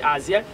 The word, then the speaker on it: Haziel: le 9e génie qui c'est Aziel qui s'écrit H A Z I E L qui sont chérubins.